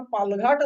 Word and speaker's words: पालघाट: भाजप पहिल्या क्रमांकाला आहे पालघाट म्हणजे तुम्हाला तुम्ही जर का इंग्लिश वाचाल तर त्याच स्पेलिंग ते पलक्कड असं करताना दिसतात परंतु त्याचा उच्चार पालघाट असा आहे ही पाल पालघाटची जी